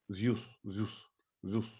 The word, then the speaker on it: Zeus: Yeah, Who is and we pronounce his name Zeus. Zeus.